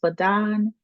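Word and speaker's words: BADAN: Um the acronym is pronounced Badon and that is created by Nicole D.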